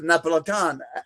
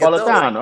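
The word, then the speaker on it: Neapolitan: I used to get the Napolitan like those. My mother used to get Napolitano. Oh, you said it. You said it like the Italians say it.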